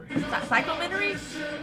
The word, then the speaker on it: Psychumentary: Psychumentary? There we go. That's how you pronounce it.